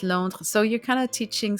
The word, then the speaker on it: Londres: So in French, it's Londres.